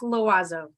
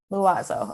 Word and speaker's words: Loiseau: you pronounce your last name for me it's pronounced loazo luazo okay luazo she is the volunteer programs